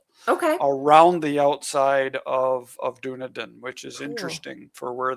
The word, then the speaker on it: Dunedin: And this is northwest of uh I don't know how to say it, Dunedin? Near Middlemarch. Dunedin.